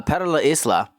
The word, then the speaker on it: Para La Isla: I I had it wrong the entire time I was saying it with a silent s.